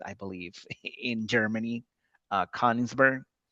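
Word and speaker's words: Königsberg: This is a city still exists I believe in Germany uh Kinsburg which by the way they pronounce it Kunisburg.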